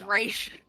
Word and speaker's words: Ra's: Did not get, but he did pronounce it Ra's al Ghul. I need to track him down and It's Raish.